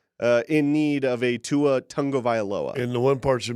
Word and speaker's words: Tagovailoa: Tagovailoa, I think is how you properly pronounce it.